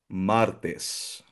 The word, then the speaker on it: Martes: Martes nasa a ang ah nasa first syllable or la primera sllaba ang asento kasi ' ba nagtatapos siya sa nose rule.